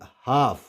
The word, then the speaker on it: half: इसको हाल्फ नहीं पढ़ेंगे, क्यों नहीं पढ़ेंगे, क्योंकि एल से पहले ए वावल है, और आपको पता है कि अगर एल से पहले AOU वावल होंगे तो वहाँ पे एल साइलेंट हो जाएगा।